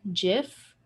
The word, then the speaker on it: GIF: within gdsa events so do you pronounce it jiff or gif we need this i'm a jif person yes yes we we're the the minority but we are correct so we are right i can what they